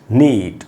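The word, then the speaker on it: knit: को मैंने अंडरलाइन किया, नीट। और ये वर्ड है दोस्तों निट, ये के से शुरू हो रहा है, के इसमें साइलेंट है, और निट का मतलब होता है बुनना कुछ भी।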